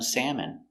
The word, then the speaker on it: salmon: So I would like some salmon.